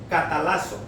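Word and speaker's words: καταλλάσσω: en el griego es catalazo, así como suena, con K de kilo, catalazo con doble S, acento en la A.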